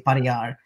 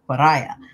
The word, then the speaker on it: pariah: took the term and they mispronounced it put the accent in the wrong place and came up with pariah and so that's where